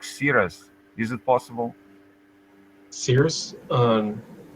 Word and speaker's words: Cyrus: I was trying to remember in in Persian they have two versions of that. They say sirus.